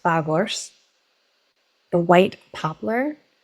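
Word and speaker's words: Phagos: We have beech, representing PH in the alphabet, pronounced Fagors.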